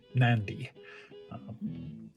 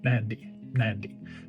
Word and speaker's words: Mnandi: be pronounced but rather the m is almost silent it just can set itself at the beginning of the word so it's almost nandy except you put the m on so mandy mandy now i'm not an